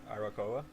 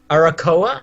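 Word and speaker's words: Arakkoa: How do you pronounce it? Arakoa. Arakoa, yeah.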